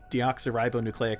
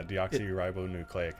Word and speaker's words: deoxyribonucleic: metroid how how do you say the long-form deoxyribonucleic acid yeah deoxyribonuclear acid from metroid deoxyribonucleic acid which also left